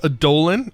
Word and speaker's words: Eidolon: And yes, this is Eidolon, I believe it's what it's pronounced. Sorry, it's Adolan. Adolan. I need to like remember Dolan and then Adolan.